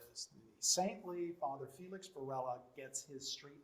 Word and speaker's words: Varela: know anything about spanish if you use a double l rather than a single l it is pronounced completely differently it would be varela